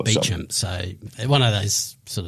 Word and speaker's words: Beauchamp: There's a road in my suburb which is called Beecham Road, but of course it's spelt Beauchamp. Yeah, right. But it's pronounced Beecham.